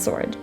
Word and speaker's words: sword: rights wrong and rap my last rule with a silent w for today's video is the following words answer two and sword so thank you so